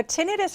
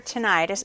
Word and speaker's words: tinnitus: what is tendinitis so tinnitus or tinnitus people never know how to pronounce it and it really works both ways it's a really common